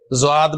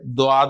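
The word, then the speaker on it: ض: कोई इसे ज़ुआद बोलता है, कोई इसे दुआद बोलता है। इसकी प्रोनाउंसिएशन बड़ी दरमियानी सी है, बहुत मुश्किल है कि जुबान के जो दो सिरे हैं ना आखिरी, वो जाके दाढ़ों के पीछे जाके लगते हैं तो ये लेटर निकलता है।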